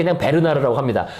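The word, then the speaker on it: Bernhardt: 일반적으로 말할 때 그냥 베르나르 아고 합니다 근데 불어 발음으로는 이미 끝에 를 발음하도록 그렇게 발음 규호가 돼 있더라고요 불어 발음상 그러니까 거기 베른하르트는 틀린 발음이고 그건 독일식 이고요 그건 잘못된 발음이고 베르나 그죠 이게를 바람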